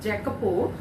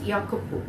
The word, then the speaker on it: Jacopo: Jack Jack see you should not say if Jacopo it's a Kapoor okay in each IV they're pronounced in such a way though the spelling